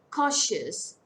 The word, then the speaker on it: cautious: Cautious. Two-syllable word. Stress falls on the first syllable.